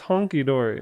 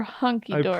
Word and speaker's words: hunky-dory: Honky-dory or hunky-dory? I promise it's honky-dory. The debate. Let's look it up. It's honky-dory. Honky-dory. Hunky-dory. It's hunky. Are you kidding me? Ah, you've been saying it wrong your whole life.